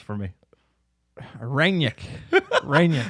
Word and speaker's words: Rangnick: Pronounce it for me. Rangnick.